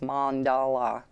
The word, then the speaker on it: mandala: just frowned lol then she kind of tells me how it is supposed to be pronounced because it's been pronounced so many different times and this is one of these subscribers that did kind of tell me that it was mom dolla and I had a few others subscribe say the same thing so that is how I am pronouncing it from now on thank you the hobbyist